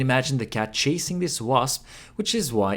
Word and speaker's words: わ: わ is pronounced like ‘wa’ in ‘wasabi’ So in English, we’ll